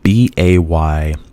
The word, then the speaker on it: Bayonne: Bayonne.